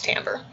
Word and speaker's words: timbre: handwriting intensity and timbre no it's not team bray it's timbre okay so those are